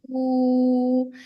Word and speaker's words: 出: So for 出去, ch sound, right? Ch, and then the ending sound is u shu shu, right? Hmm? Chu. And remember, it's the first tone.